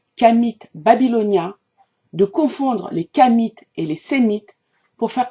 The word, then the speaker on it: Khamites: et les croyances des kamites qui se sont exprimées publiquement et je prononce bien kamit car il s'agit de la descendance de Cam premier fils de Noé et je ne dis